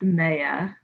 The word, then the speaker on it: Meiya: that piece hi um actually my name is pronounced maya like okay but um that piece is me